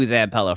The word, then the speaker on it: Zampella: Zampella, okay.